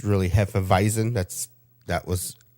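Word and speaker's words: Hefeweizen: and a German beer the W is pronounced with a V sound so when you see Heen weisen it's really Heen visen that's that was how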